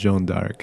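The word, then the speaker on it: Jeanne d'Arc: Jon of Arc in French is pronounced Joan Dark.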